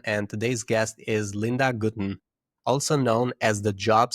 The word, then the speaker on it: Gutin: Gutin is the second most popular way to pronounce it. Gutin is the way that we go.